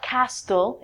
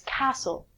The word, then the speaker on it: castle: It's not castle, it's castle.